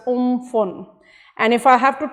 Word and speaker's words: Amphan: to make the landfall the tropical cyclone pronounced as oomphel and if I have